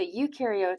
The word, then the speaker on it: eukaryotes: outside the nucleus so you can remember that U rhymes with true so ukar have a true nucleus